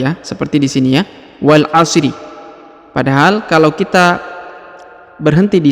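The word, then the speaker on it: وَالْعَصْر: seperti di sini ya Wal Asri Padahal kalau kita berhenti di satu ayat satu ayat maka kita harus mukunkan ataupun mematikan setiap huruf ujungnya contohnya Wal asr bukan Wal Asri ya biasanya pemula Itu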